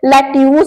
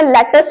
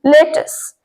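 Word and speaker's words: lettuce: Next है सलाद पत्ता, जिसे लोग लेट्यूस बोलते हैं या लेटस बोलते हैं, दोनों ही प्रोनाउंसिएशंस गलत है। इसे इंग्लिश में लेटस बोलते हैं, लेटस। लेटेस, यहाँ पर भले ई नहीं है लेकिन ई का साउंड उसमें आएगा, लेटेस।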